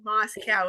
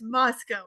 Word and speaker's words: Moscow: So the neighboring cities used to tease us and they'd say Moscow, Moscow. Like, no, it's Moscow, even though I raised pigs like half of my life as a kid.